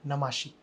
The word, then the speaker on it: Namashi: ओ सो pronunciation है नमोशी but spelling है एन ए एम ए एस एच आई तो ज्यादातर लोग मुझे नमाशी ही बुलाते हैं बट ऐसा तो कुछ नहीं है नमोशी आई थिंक बहुत ही